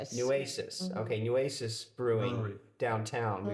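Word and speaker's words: Nueces: Yeah, we went to, now correct my pronunciation, but Nuses, Newasis, Newasis.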